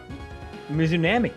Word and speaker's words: Mizunami: Mizunami.